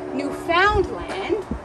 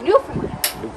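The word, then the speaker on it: Newfoundland: it's not New Finland it's not new found land it's new land okay everyone try it now new okay cfas arise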